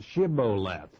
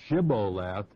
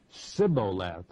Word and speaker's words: Shibboleth: the the Ephraim i'ts could not pronounce the SH sound and so they had made him say the word Shibboleth which in Hebrew means